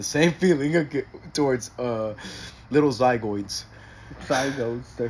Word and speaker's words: zygote: Zygotes, they're called. No, zygoids.